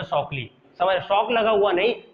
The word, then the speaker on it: Shockley: एक जो बंदा था ना उसका नाम था शॉकली, समझ, शॉक लगा हुआ नहीं, स्पेलिंग वही हमका जाता रहेगा सेम, लेकिन इसको